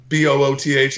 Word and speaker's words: Booth: If you really just want to find all the links, you can Google Booth, Booth, like telephone booth.